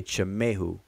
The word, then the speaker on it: Tamahu: are the tamahoo and i'm only saying tamahu because that's how people pronounce it but it's really chamehu but i'm gonna show